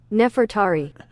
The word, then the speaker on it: Nefertari: How do you pronounce um let's see pronunciation. Pronuniation. Nefertari. Nefertari.